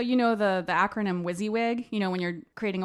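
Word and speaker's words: WYSIWYG: and also so you know the the acronym wizzywig you know when you're creating a website or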